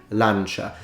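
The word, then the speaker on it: lancia: say spear in Italian would say lancha and you could remember it because you know just it sounds nice you say it you like how you say it lunch but then the moment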